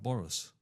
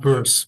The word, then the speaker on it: Burris: You recently announced Mark Boris. Is that his I pronounced his name right? Yeah, yeah, yeah. Mark Burris. Mark Mark Burris. Burris. That's it, Mark Burris, and I think I've